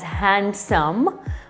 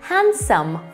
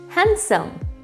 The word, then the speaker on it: handsome: is not pronounced as handsome although it does sound like having a d sound the correct pronunciation is handsome without a d just remove the d and read it again handsome word number two honestly